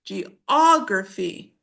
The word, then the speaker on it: geography: But um notice in English you say geography.